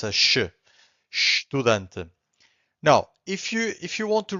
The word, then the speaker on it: estudante: This is estudante. Again, estudante. So the only thing that you can hear from the first syllable, it's a sh, right?